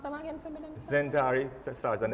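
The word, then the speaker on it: XenTari: so the pronounce them again for me. Zentari starts an X.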